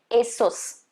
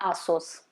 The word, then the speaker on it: Asus: It's supposed to be Asus. Asus. Okay, not Asos. Asus.